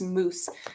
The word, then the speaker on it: moose: that II say anything no it's not mu set or mu C it's just moose so I know that E is silent so I'm gonna do a line through it like this to show that it doesn't you sound alright this afternoon a